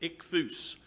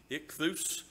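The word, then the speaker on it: ΙΧΘΥΣ: are the greek letters it's pronounced ichthus and if anybody in here speaks greek please feel free to correct me but that's how i pronounce it when i see those greek letters ich thus two syllables ich thus you can pronounce that if you want to exuse that's the greek word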